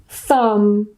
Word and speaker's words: thumb: it's in the middle, the B at the end is silent and we just pronounce the M.